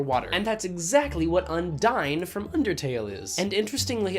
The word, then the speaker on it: Undyne: And that's exactly what Undyne from Undertale is.